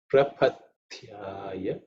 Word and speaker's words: Prapathyaya: In terms of pronunciation, just you have to make sure of the th in this prapat. That is the second letter in the Thavarga and has to be aspirated. Okay.